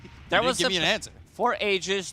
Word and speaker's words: Aegis: an answer for ages there was a patch it said the way ages should be pronounced go for it ages AIS yeah we called it Aus before and then I frog said yep n not the way that it should be I think we're going